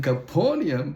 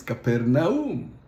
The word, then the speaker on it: Capernaum: And Caponium pronounced properly the way it was written in Greek is Capernaum.